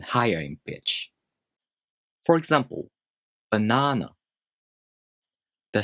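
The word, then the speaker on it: バナナ: For example, banana is pronounced banana in Japanese. High, low, low.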